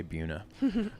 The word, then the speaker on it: Buena Vista: Buena Vista, that's what they call her, Buena Vista, but the locals say Buena.